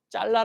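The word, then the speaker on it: צָלַח: 크게 감동 된다는 말은 히브리어로 짤라 라는 말입니다 우리 가래떡 할 때 칼로 가지 뭘 잘라 할 때도 있잖아요 자르다 말이 있는데 발음이 비슷해요 이게 크게 영에 감동된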